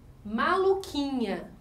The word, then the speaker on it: maluquinha: Maluquinha também vai formar um dígrafo, porque a letra U não é pronunciada.